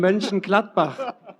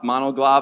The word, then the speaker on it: Mönchengladbach: I tried to teach him to say Mönchengladbach because Amiga had some problems pronouncing the city. But could you say the name Mönchengladbach?